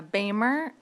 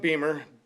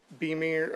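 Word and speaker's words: Boehmer: so uh it's pronounced Beamer. Beamer. Uh, kind of like the BMW, but it's spelled B O E H M- E R.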